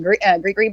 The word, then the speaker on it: gris: Like with the ginger root, these like they'll call it gree bags or grease. It's spelled GRIS, and or mojo bags.